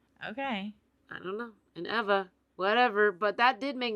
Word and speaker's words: Ewa: didn't understand it because Eva is spelled Ewa but it's pronounced with a V sound Eva um and my auntie